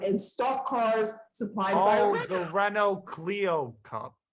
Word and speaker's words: Renault Clio Cup: where they drive and stock cars supplies the Renault Clio Cup right yeah yeah that's how you pronounce it yeah it's funny small cars very